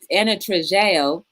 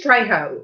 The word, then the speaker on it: Trejo: And then Trejeo said, Trejo. yes. What is it? I think it's Trejo. Ask her. Trejo. Trejo. I like to pronounce people's names right.